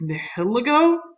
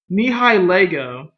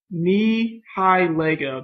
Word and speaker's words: Nihilego: Nihiligo? I hope I said that right. Nihilego. Nihilego. That's what I'm going to say. I know I did not say it right, but Nihi and then Lego. Like Lego my ego, Anyways, I get burned.